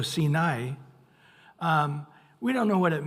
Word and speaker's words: Sinai: Actually, it is I pronounced as I after an A. So Sinai, we don't know what it means.